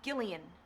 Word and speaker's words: Gillian: called Jillian anymore anymore it's Gillian with a hard G Gillian but we always